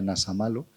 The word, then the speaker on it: Nasamalo: Y probablemente en nubia se leía como Nasamalo, en nubio se pronunciaba Nasamalo, y ocupaba un cargo muy importante en la Tebas conquistada.